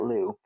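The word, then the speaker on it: Loos: the Battle of Lou I don't know that I've ever actually heard it pronounced out loud now that I'm thinking about it but my French Classes tell me that that you do not say that s out loud Battle of Lou took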